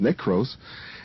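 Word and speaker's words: νεκρός: e k r oos which means NEC it's pronounced necros and that means something dead so uh if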